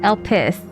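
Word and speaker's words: Elpis: It is pronounced El Pis.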